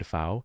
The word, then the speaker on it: Pfau: Wade Pfau, W-A-D-E. Pfau is P-F-A-U. I think the P is silent.